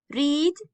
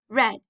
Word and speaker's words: read: read, read. The same spelling but different pronunciation, okay?